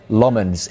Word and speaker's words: Lammens: the window, but United opted to sign center Lmens instead.